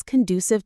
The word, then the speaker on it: conducive: You need to create an environment that is conducive to focus. Let's quickly look at that word conducive. Conduive. Conducive. The stress is on the do syllable.